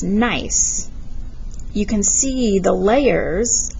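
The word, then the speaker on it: gneiss: this rock right here it's pronounced nice you can see the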